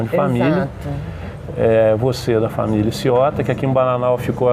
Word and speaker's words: Sciotta: Então, mas se pronuncia Ciotta na Itália, então tem esse tch.